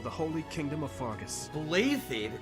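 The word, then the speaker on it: Blaiddyd: holy kingdom of fargus blathed that's not blatant boy everything in this game is pronounced oddly huh of course at the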